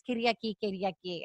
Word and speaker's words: Kyriaki: know, for the MFs who like cannot pronounce Kyriaki for some reason, then hey, that like, they can just call me. So I'm like, here you go, Kyriaki, basically. It's Kyriaki.